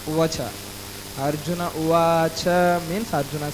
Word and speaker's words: उवाच: That why actually even in Hindi also it is mentioned that what we call, yes, Arjuna Uvacha, not Uvacha.